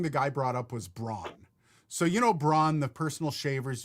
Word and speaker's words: Braun: And the one thing the guy brought up was Braun. So Braun, the personal shavers you can buy. Braun. Yeah. It's Braun. But we pronounce it in North America because of the marketing.